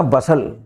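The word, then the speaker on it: bustle: नहीं एपोस्टल है ना बसल हंगामा खड़ा कर देना बसल वर्ड है टी साइलेंट है कैसिल किले को कहते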